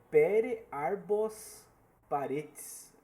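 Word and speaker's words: Pere Arbós Paretes: Vencido por Aí agora a gente vai para ver o a pronúncia do nome do cidadão. É Pere Arbos Paretes.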